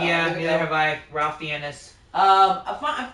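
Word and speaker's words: Fiennes: actors of Kilmer Ralph find raes um I've never understood why that's pronounced that way but yeah neither have I Ralph fenis um find I'm one to go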